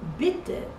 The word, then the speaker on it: bitte: But in bitte, bitte, E is very short.